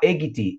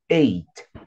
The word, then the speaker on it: eight: Cuidado para não falar eggity, eggity, eggity, nada. Não, o GH aí, ele é mudo, então é eight.